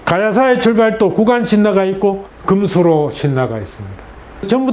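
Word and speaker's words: 金首露: 이것도 김수로로 읽는데 금수로. 저도 아주 익숙하지 않아요. 남들이 하는 대로 따로 하니까 다 김알지, 김수로 그랬는데 왜 어떻게 김알지나 김수로를 읽어요?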